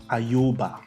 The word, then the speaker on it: Ayoba: Ayoba. That's how it's pronounced.